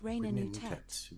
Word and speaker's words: Reut: Her name is pronounced rea.